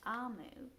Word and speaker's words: Omu: says but it's but the author tells us how to say it and it's amu and it means queen